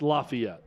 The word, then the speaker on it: Lafayette: mean it's not it's it's Lafayette it's not LEF yeah I mean you're